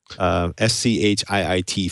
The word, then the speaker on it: Schiit: It's a SCHIIT Fulla, which is pronounced like the thing that you don't say in front of your mother when you've left poo somewhere.